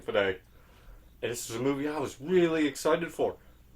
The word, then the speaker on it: Fede: I believe that's how you pronounce his first name, Fede.